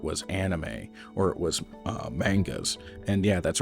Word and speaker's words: manga: movies, or it was anime, or it was mangas. And yeah, that's right, I pronounce it manga.